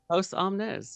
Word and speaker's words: Post Omnis: Post is it Post Omnis? Post Omnis. Yeah, Post Omnis. I I misspelled I mispronounced it before.